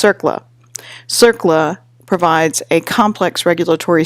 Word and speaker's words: CERCLA: Response, Compensation, and Liability Act, CERCLA, which is pronounced CERCLA.